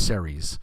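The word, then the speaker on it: Ceres: uh campaign which is uh i think it's series c-e-r-e-s um series series depending on you yeah i'm from brooklyn so i don't pronounce anything right but uh yeah cool stuff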